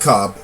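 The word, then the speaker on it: Coppe: cop i like to i like to assume his name is pronounced cop because it's like c-o-p-p-e but anyways yeah we're just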